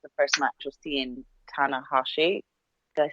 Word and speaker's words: Tanahashi: I mean, I enjoyed the match for sure, and for me, it was the first match of seeing Tanahashi.